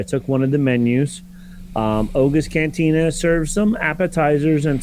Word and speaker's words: Oga's: establishment, but you have Oga's. Let me make sure I say it right. Yep, it is an apostrophe S.